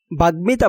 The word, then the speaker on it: বাগ্মিতা: বাগ্মিতা বানানে গয়ের সাথে মফলা যুক্ত হওয়ায় মফলার উচ্চারণ বহাল আছে।